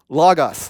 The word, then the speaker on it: Logos: this idea of l-o-g-o-s how you say it log us thank you and and there's this concept that